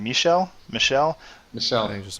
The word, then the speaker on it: Michel: I have Sony Michel.